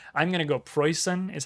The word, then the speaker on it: Preussen: an audio clip of somebody pronouncing it correctly it's poison or something similar to that i'm going to go pre-sun is how i'm going